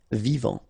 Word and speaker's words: vivant: Final T not pronounced. Vivant.